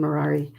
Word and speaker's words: Mirari: I love that you gave the correction on how to pronounce your name, Mirari, as in Ferrari.